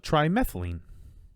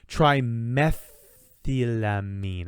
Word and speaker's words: trimethylamine: into a compound called trimethylene. Sorry, that's not true. Trimethylamine.